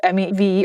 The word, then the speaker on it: MEV: say I know that the pronunciation of me V or Mev um depends on the speaker for this purpose me as a stand alone word is me when it's added to a word after it's Mev so don't come at